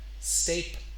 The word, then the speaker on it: stapler: stapler, Stapler. It's not three syllables, stapler, it's two.